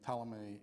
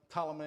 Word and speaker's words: Ptolemy: correctly got this right the p in Ptolemy is silent so though that doesn't